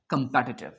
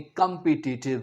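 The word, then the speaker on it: competitive: तो इसे आपने कंपिटिटिव नहीं कहना। क्या कहना है? कंपैटिटिव। कंपैटिटिव चलते हैं आगे।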